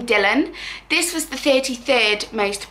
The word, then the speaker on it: Dylan: it's a Welsh name I think Welsh pronounced it darlin but I would probably steer more towards Dylan I just think it sounds a bit bit nicer pronounced like that but yeah we love